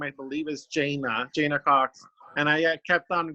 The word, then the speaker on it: Jana: I'm called Jana, but it's Jana.